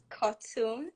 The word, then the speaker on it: Kotun: do this azusa did i get it right cartoon yeah okay i tried it it's a graduate